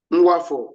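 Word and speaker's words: Nwafor: You see the case of Nwafo Uraku. Nwafo is spelled N-W-A-F-O-R.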